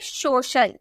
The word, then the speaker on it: social: आगे आई और ए, सी के आगे आई ए रहे, तो सी का उच्चारण श में किया जाता है। जैसे आपका सी है, उसके बाद आई और ए नजर आ गया, तो उसका प्रोनाउंसिएशन हम स में करेंगे। जैसे SOCIAL, आपको सी के बाद आई ए देखने को मिला ना, यानी कि हम बोलेंगे सोशल, सोशल। ठीक है, FACIAL, सी के